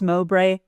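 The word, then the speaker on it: Mowbray: Is it pronounced Mobre?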